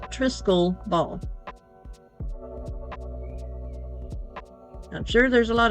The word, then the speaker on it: triskele: the trisal ball and that's spelled t r i s k e l e pronounced trisc ball I'm sure there's a